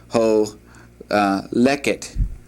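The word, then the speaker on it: הולכת: She also would say ani holeket. Holeket. Notice that the accent is on the second to the last syllable here, and that would basically express the same thing.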